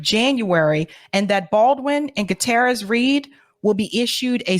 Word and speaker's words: Gutierrez: one of these three people Alec Baldwin Hannah gutera's Reed or David Halls had done their job hell no how do you pronounce her name Hall Hana halina let me